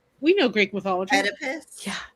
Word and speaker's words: Oedipus: Yeah, Opidus. How do you say that? Yeah. Epidus. We know Greek mythology. Oedipus. Yeah, Oedipus.